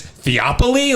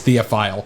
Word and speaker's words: Theophile: positive that's correct okay you think it's theop like he's Greek dog dude I don't know that's weird theophile it's theophile all right well that's how